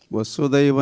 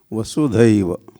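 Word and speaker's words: वसुधैव: सो Prabhupada family Hari Hari और वसुदेव कुटुंबकम तो हम है ही है वसुदेव नहीं वसुदेव करेक्शन एंड प्रोनाउंसिएशन वसुधा पृथ्वी पृथ्वी पर वसुधा मतलब पृथ्वी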